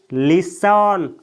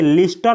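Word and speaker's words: listen: अगला वर्ब है दोस्तों लिसन। इसे लिसन पढ़ा जाता है दोस्तों, इसे लिस्टन नहीं बोला जाता है, लिसन।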